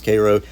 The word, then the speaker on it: Cairo: out of Koo and it's spelled Cairo but it's Koo and Crossing into um